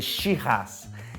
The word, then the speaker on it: Shiraz: australiano e olha só eu não falei sirrá eu falei she-ras e porque que a pronúncia é diferente por causa da língua inglesa né porque os ingleses não conseguiam pronunciar direito se errar que é o nome francês dessa uva é a mesma